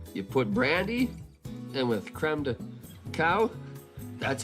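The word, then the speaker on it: crème de cacao: You put brandy and with creme de cow, that's how you say it.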